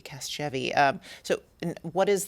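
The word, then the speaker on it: Casgevy: Cast jeevi cast jeevi I'm trying cast jevvy cast jevy to soft soft g soft g cast jeevy um so and what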